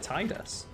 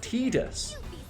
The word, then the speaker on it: Tidus: final fantasy games like titus it's like it's supposed to be pronounced tidus apparently even though his